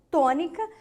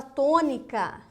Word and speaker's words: tônica: Terceira sílaba de trás para frente forte, tônica, ela é uma proparoxítona.